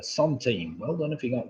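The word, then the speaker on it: centime: team the song team it's spelt sent on C e n tima is the Sun team well done if he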